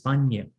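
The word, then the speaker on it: paññā: Another one is panya. Okay. So this panya with long A.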